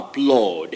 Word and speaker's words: applaud: one sound this is a and you forming the long vowel sound o applaud okay applause not applause